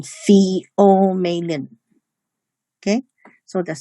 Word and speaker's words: pheomelanin: It's pronounced as eumelanin and pheomelanin.